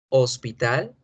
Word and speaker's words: hospital: En inglés, hospital se escribe con H y suena la H.